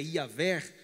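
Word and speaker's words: Yahweh: Eh, a pronúncia exata já se perdeu? Mais ou menos. A pronúncia do Senhor é Iaver. A, porque a dificuldade de se pronunciar, porque não temos vogais, apenas consoantes.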